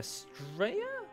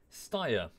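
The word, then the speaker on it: Steyr: That's not how you say it. Stir-stir-ya? Stire. A stire. Is it?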